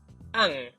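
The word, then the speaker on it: 앙: the end so it it is pronounced as an which has the ng sound at the end okay I know it's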